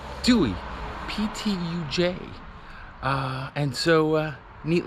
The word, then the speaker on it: Ptuj: to say the name of this town it's pronounced Dewey J uh and so uh neat little town anyway